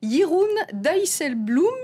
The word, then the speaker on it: Jeroen Dijsselbloem: Et puis aujourd'hui, c'était le premier jour de mandat pour Jeroen Dijsselbloem, le nouveau président de l'Eurogroupe. J'espère que je prononce bien, Myriam.